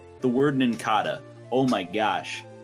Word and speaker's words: Nincada: wasn't in kata like it's based on a cicada the cicada yeah yeah